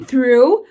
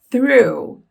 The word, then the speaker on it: through: Porque, olha só, tem o TH O TH, nesse caso aqui, a gente tem que colocar a língua entre os dentes para pronunciá-lo e soltar um arzinho. Então, começa assim, ó. Reparem que não é som de F.